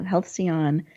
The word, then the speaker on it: Halcyon: best-selling author, founder of can you help me pronounce that? Halcyon Elder Care. Thank you. Halcyon Elder Care in 2003 and is a member of the Aging Life Care Association.